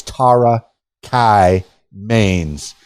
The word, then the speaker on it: Tara Kye Maines: So I encourage you to follow Tara Kai Mains, and I know I've pronounced her name 12 different ways, but it's Tara Kai Mains.